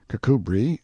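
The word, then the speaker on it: Kirkcudbright: Pronounced Cubri Flanover Marshbanks sellers Viccount Barkley of Chumley Castle, Warkshire.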